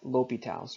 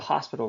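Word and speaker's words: L'Hôpital: talk about something called L'Hopital's rule. Okay, one of my favorite calculus professors in university called it the hospital rule. Okay, it's spelled the same.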